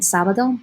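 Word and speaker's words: sábado: in years past vietnamese saturday has that accent on that first syllable okay both saturday and sabado begin sa and then on domingo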